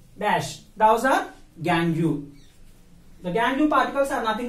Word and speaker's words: gangue: The impurities we have to pronounce as gangue.